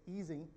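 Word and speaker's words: Ising: the right pronounce asia's like izing and easy you should say easing not isaac we should say by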